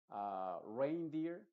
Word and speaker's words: reindeer: te voy a mencionar En estos casos la e en inglés estoy hablando se va a pronunciar como el sonido de la a original que es precisamente e